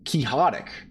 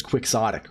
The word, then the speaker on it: quixotic: in it and uh I was pronouncing their name kihotic right you know like Don Quixote right like how you where that where that adjective comes from and uh you know instead it's uh well I I don't know it's uh apparently it's quixotic which is incredibly frustrating